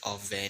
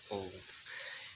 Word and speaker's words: Ove: It's Ove, not Ove.